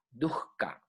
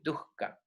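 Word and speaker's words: duḥkha: sufrimiento en sánscrito duca se escribe d H K H a duka se pronunciaría correctamente duka que quiere decir sufrimiento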